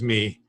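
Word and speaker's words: μή: yeah it's incorrectly it's m iota uh is me so it's very and when you pronounce it you would say me which is kind of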